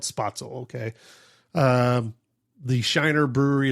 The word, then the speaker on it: Spoetzl: Shiner brewery and the How do you say their actual just the old name? The Spoetzl brewery? I think that's how you say it. Spoetzl Spoetzl. I'm sorry.